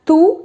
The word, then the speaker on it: tu: So tu is like tu in Hindi. You can't miss it out. It sounds similar.